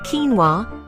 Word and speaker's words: quinoa: Pronounced quinoa, these are tiny, bead-shaped seeds that can be white, red, or black.